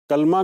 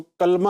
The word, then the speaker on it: کلمہ: کلمہ بھی کہتے ہیں۔ کلمہ کا پروننسیشن آپ نے درست کرنا ہے، اس کو کلمہ نہیں پڑھنا، بلکہ اس کا تلفظ کیا ہے، پروننسیشن کیا ہے؟ کلمہ۔ تو لام کے نیچے زیر ہے۔ لفظ کلمہ کی یا